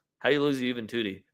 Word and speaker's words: Juventude: How do you lose to Juventude? Their name literally rhymes with booty.